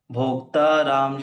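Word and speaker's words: भोक्तारम्: सबसे पहला जो शब्द है भोक्तारम, कई भोक्ता। बार ये प्रोनाउंसिएशन में हम भोक्ता राम कहते हैं, लेकिन उस प्रोनाउंसिएशन करते सुनाई ऐसा देता है कि वो राम सुनाई दे रहा है, लेकिन वो लिखा हुआ है भोक्तारम यज्ञ तपसाम सर्वलोक महेश्वरम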